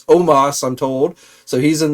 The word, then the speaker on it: Omos: I'm told it's pronounced with an A, not an O. Don't know why he doesn't spell it with an A, but nevertheless, it's Omos, I'm told.